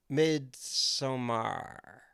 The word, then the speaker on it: Midsommar: Midsommar.